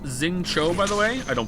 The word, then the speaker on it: Xingqiu: Xingqi is pronounced Xingqiu, by the way.